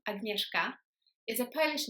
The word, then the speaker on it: Agnieszka: The first one is the SZ letter combination, which in Polish is actually pronounced like the English sound for SH. So think about the sound in the word shoe or shop. So the SZ in Polish is sh. So my name is not Agnieszka, but it's Agnieszka.